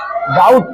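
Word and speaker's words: doubt: होना चाहिए क्या डब क्या पढ़ेंगे इसको बच्चों डाउट क्या पढ़ेंगे डाउट आगे देखो एस यू बी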